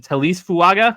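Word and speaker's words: Taliese Fuaga: Is it Talise Fuaga? Is that his name? Did I pronounce that right?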